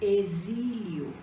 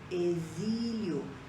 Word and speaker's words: exílio: causa aqui por exemplo exílio exílio parece um um som de z aqui cozinha cozinha e